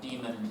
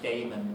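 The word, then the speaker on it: daemon: Um the other sense in which uh demon is used Some people pronounce it Damon, but they're wrong. That's how it's spelled, but not how it's said.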